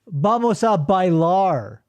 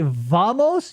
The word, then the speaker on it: vamos: V's are typically pronounced as B's. See, when you say vamos, if you say vamos, you're a chud.